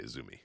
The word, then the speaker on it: AZM: Do you say Azumi? Yeah. Or I think you say Azumi. Yeah, you say Azumi.